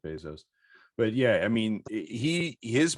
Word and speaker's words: Bezos: think you could see that potentially if it's especially if it's Bezos, pardon me. He pronounces it Bezos.